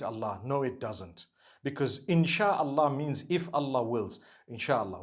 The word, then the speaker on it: insha'Allah: No one says inshi Allah. They say insha'Allah.